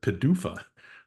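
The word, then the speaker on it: PDUFA: um that Pharma uses is is um called Padua it's my second acronym for you today which is pronounced as a word even sillier sounding word Padua that's what they that's what they say and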